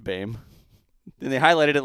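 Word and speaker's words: Boehm: curator of aviation eric blame it it says pronounced bame and they highlighted it like i'm supposed to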